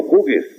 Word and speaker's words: Hughes: Eduardo Galeano es de Montevideo, su papá era de origen escocés y es de apellido Hughes, H-U-G-H-E-S, Hughes o Hughes se pronuncian.